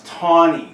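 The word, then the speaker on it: Taney: the video here and it's it's taon that's how it's pronounced and we mentioned this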